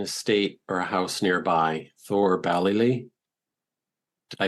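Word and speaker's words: Thoor Ballylee: Now, Yeats had an estate or a house nearby, Thor Ballylee. Did I pronounce that right?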